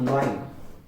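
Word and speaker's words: lion: Actually इसको हम कई बार प्रोनाउंस करते हुए टाइम लॉइन बोलते हैं, that is wrong pronunciation of this, that the correct pronunciation of this is लियोन, लाइन, that is लाइन।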